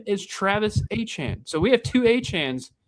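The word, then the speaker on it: Etienne: Uh, lastly, Travis Achan is how you pronounce Travis ETN.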